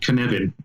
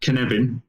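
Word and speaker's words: Cynefin: has a process called kanevin it's a welsh word so it's felt differently to i would say it but knebin um i can't spell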